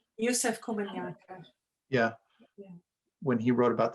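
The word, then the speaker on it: Yusef Komunyakaa: Doesn't Joseph Komanyaka say something like that about, am I pronouncing his last name right? Yusef Komanyaka.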